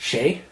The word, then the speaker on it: Sidhe: It's actually pronounced Shay because it's Gaelic.